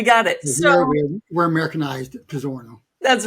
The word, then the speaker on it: Pizzorno: Pizzorno. Yeah, you nailed it. Nice. All right, we got it. So we're Americanized Pizzorno.